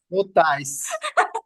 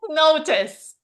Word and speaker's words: notice: notais. Notice.